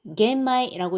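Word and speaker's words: 玄米: 그다음에 현미일 때는 또 겟마이라고 읽습니다. 백미도 하그마이라고 읽는데요.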